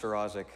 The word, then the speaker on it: Staroszik: it's just gonna be chef welcome it's pronounced her Isaac of course it is that's how I would